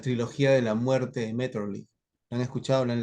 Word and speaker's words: Maeterlinck: de Metterly, Maeterlinck, así se escribe, Maeterlinck, Metterlinck, la trilogía de la muerte.